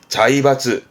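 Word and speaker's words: 財閥: 자이바츠, 재벌의 자이바츠, 학벌의 가크바츠, 파벌의 하바츠.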